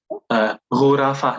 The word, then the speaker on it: غرفة: Okay, is there fatha on the ra of the word غرفة? غرفة, let me go back. Where is غرفة? Oh, okay. غرفة, no.